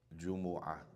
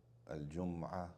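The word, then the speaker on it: الجمعة: Jumu'ah. Jumu'ah. There's different ways to pronounce it. Jumu'ah. Al-Jum'ah.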